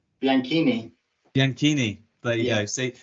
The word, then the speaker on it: Bianchini: so I I remember at least you didn't pronounce my surname all right well it's Bianchi right bianchini bianchini but you know see that's what I